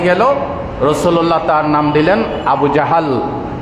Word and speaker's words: আবু জাহাল: আবু জেহেলের নাম ছিল আবুল হাকাম, বুদ্ধির বাপ। ইসলাম যখন হয়ে গেল, রাসূলুল্লাহ তার নাম দিলেন আবু জাহাল। আবু জাহাল, আমরা বলি আবু জেহেল, উচ্চারণে ভুল।